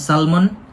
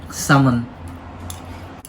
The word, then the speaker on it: salmon: salmon salmon yeah guys in the philippines usually we pronounce salmon but here in the uk you need to remove the ill salmon you're hoping food already